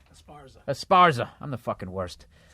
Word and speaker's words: Esparza: Dean Del Rey myself Al Madrigal and Felipe Esperanza uh you gotta listen to him did I say his name right Esparza Esparza I'm the worst um